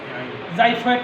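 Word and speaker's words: xiphoid: একটা কার্টিনেজ sir extension sir ওইটার উচ্চারণটা স্যার উচ্চারণ জাইফয়েড কার্টিনেজ জাইফট জাইফট এক্স আই পি এইচ ও আই টি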